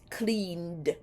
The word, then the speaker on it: cleaned: n Sound clean and because it's an n Sound the past tense of clean is pronounced cleaned love has has that